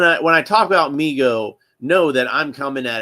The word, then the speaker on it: Mego: Uh, MIGO, pronounced MIGO, uh, Corp, was started by his father, David